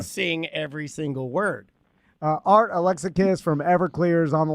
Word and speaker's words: Alexakis: Art Alexakis from EVERCLEAR is on the line. How you doing, Art? I'm doing okay. It's pronounced Alexakis. Thank you. Alexakis.